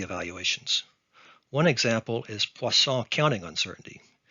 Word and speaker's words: Poisson: evaluations one example is poisson counting uncertainty it's pronounced poisson in french but i'm going to americanize it and say poisson another is uncertainty obtained